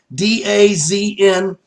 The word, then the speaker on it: DAZN: DAZN is DAZN. So it doesn't look like it's spelled, so the phonics are a little different, but it's DAZN.